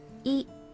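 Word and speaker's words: い: This is E, or pronounced I. Not really pronounced I, but you get what I mean. It is the equivalent of the vowel I in English. You pronounce this one as E. E. E is a short vowel.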